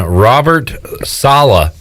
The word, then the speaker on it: Robert Saleh: So the Jets have their man Robert Saleh as their head coach. I saw on Twitter somebody said that to pronounce the last name just rhymes with Holla.